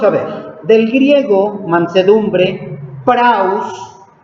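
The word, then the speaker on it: πραΰς: Vamos a ver, del griego mansedumbre, praus, así como se escucha, P-R-A-U-S, praus, con acento en la U, significa apacible, pacífico, humilde, dócil, suave, sometido, blando, bondadoso, paciente, sumiso y maleable.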